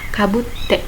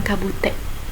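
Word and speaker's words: かぶって: Kakete, kabutte. Di sini T-nya double. Jadi dibacanya rada ditekan sedikit, kabutte, bukan kabute ya.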